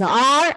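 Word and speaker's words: hour: It begins with a consonant letter H, but here H is silent.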